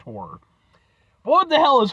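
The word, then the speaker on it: HO99O9: I know it's HO9909, but it's it's pronounced horror, but what the hell is horror and why is it spelled funny?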